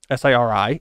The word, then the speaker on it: Siri: sent me a note her name is siri s-i-r-i spelled like siri the voice assistant for apple so i really have no